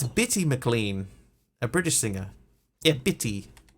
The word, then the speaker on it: Bitty McLean: diamond dust oh wait hang on heard the name wrong it's bitty McLean a British singer a pity wait there we